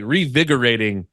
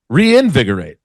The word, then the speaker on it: reinvigorate: now this is like revigorating my love for stand-up comedy. Oh, yeah. Yeah, that's what I said. It's, I think you skipped a syllable in there. Revigorating. No, it's reinvigorate.